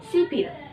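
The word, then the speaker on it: 십일: Jadi akan dibaca dengan sipil. Seperti itu. 11 puluhan dulu ditambah dengan satuan. 10 yaitu sip ditambah dengan 1 yaitu il. Berarti bacanya akan menjadi sipil.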